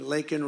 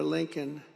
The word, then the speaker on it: Laken: And then he pronounced her name wrong. Remember, he called her Lincoln.